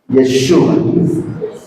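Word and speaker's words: ישוע: el nombre Jesús pero sabe cómo lo pronunciaron en en hebreo yeshua Qué significa yahvé salvador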